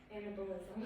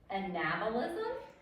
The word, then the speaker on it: anabolism: their food Nancy sorry analism okay so you would think that would be how you would pronounce it but it's pronounced anabolism okay anabolism um and